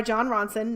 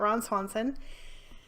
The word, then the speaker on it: Jon Ronson: It's by Jon Ronson, not Ron Swanson.